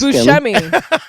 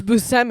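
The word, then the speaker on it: Buscemi: I always thought it was Bushmi and it's Busousmi.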